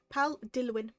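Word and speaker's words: Dilwyn: It is pal Dwin Akila and I will put it in the chat just to show you how it's spelled. pal Dillwin. Dillwin is a W is an originally a Welsh name and because I wanted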